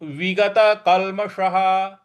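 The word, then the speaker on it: विगतकल्मषः: जो विसर्ग है उसका उसके आगे कुछ नहीं लिखा है इसलिए उसका ह उच्चारण करेंगे तो विगत कलमशः विगत कल्मशः इस प्रकार से ये उच्चारण किया जाएगा तो पूरी पंक्ति बन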